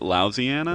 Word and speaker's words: Louisiana: say louisiana that's how my fam my family pronounces it lousiana louisiana okay and then you came back here